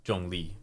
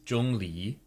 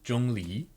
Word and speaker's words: Zhongli: and different characters wow so this here is jungi so for anyone who wants to pronounce it correctly jungi um Jong Jung Le